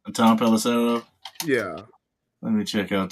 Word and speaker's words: Pelissero: Tom Pelissero.